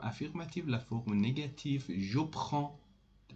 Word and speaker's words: prends: The pronunciation, be careful about the pronunciation and pay attention. Je prends, je prends. Don't say je prends. Je prends. D and S is not pronounced at the end of the word.